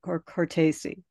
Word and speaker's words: Cortese: Cortese. Okay, just pronounce all the vowels all the way through it. Thanks. It'll come out right.